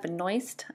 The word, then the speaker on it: Benoist: Her name in real life is Melissa Benoist, I believe is how you pronounce it.